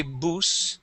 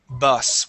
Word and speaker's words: bus: uh class be careful this is not a long u sound we do not say boo it is bus with a short u sound okay now uh Alexander